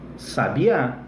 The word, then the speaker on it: sabiá: Olha lá, ó. Sábia, sabia, sabiá. Então a acentuação, ela é fundamental para você entender um termo, entender a pronúncia e daí extrair o significado, tá bom?